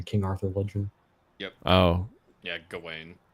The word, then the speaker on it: Gawain: Oh, Yeah, Gawain. Gawain. Yep, that's how it's pronounced, I believe.